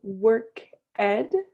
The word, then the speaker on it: worked: so with this ed sometimes it makes a different sound so instead of being work ed this one is worked what good repeat watched